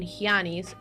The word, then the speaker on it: Hyannis: So if you read it like that, the Ian in Diana and in Hyannis sound the same.